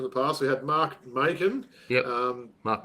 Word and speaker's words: Macon: We had Mark Macon. Yep. Mark Mason. We had, it's got to be Macon, right? As in bacon.